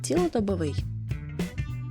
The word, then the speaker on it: цілодобовий: випадок правильно казати випадок цілодобовий чи цілодобовий правильна відповідь цілодобовий підлітковий чи підлітковий